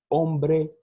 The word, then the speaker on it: hombre: Hotel, hola, hombre, nunca se pronuncia o H, tá bom?